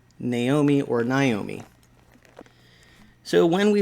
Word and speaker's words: Naomi: in different ways and we pronounce it naomi this is how we say her name and when she goes places uh she prefers to be called naomi but there are other people who will call her naomi and perhaps you're out there saying yeah when i see that name that's how i say it naomi well maybe the self-pronouncing